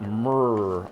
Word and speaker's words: MMR: You don't actually pronounce every letter MMR. You're supposed to say it like a purring cat. Mrrr.